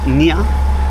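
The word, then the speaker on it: Gahi: And we're moving into Gia Bay, which is it's how it's spelt, it's Nia Bay, pronunciation here, and this is it coming in.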